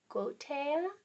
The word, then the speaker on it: Goeteia: In ancient Greece, magic was known as, these words are going to be hard to say, Magia or Goetia. I'll spell it.